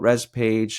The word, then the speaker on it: ResPage: Tell us a little bit about ResPage, and how can people reach out if they want more information? So company is ResPage, and pronounced that way.